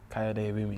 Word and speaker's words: Kayode Ewunmi: Did I say it right? Kayode Ewunmi, yeah.